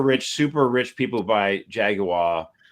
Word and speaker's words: Jaguar: Sorry, it's pronounced Jaguar.